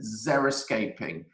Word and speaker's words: xeriscaping: trend number three is xeriscaping now this is spelt with an x so x e r i escaping and this is actually